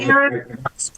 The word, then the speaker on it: era: That is the right way to say era.